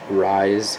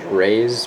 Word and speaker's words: Rys: Again, this is Rise. It's spelled R-Y-S, which is kind of weird, but Yoda pronounces it Rise. I thought it was Raise, but it's whatever.